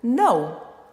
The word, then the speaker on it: know: Outro verbo, know, know, olha só, K-N-O-W, 4 letras, uma sílaba.